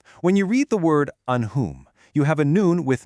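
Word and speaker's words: أنهم: When you read the word anhum, you have a noon with no vowel, followed immediately by a ha, which is a throat letter. You absolutely must pronounce that noon clearly and distinctly. It is anhum.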